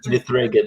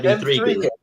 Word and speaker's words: M3GAN: It's like M3gan. It's not Megan. It's M3gan. Yeah, M3gan.